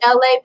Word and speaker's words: Elay: This is me, Elay, pronounced like LA, like the city.